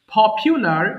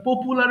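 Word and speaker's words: popular: একটু আমার সাথে একটু বলেন তো দেখি সবাই পপিউলার জনপ্রিয় আমরা পপুলার বলি উচ্চারণ হবে পপিউলার পপিউলার পপিউলার জনপ্রিয় পপুলারিটি জনপ্রিয়তা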